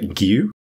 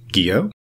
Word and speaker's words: Gio: And in Danish, these vowels make different sounds than in English. And so I actually can't reliably say it the way that Elias pronounces it. It's something like Gio.